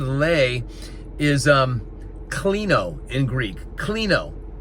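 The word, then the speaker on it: κλίνω: Klino. K-L-I-N-O, I believe it's spelled klino.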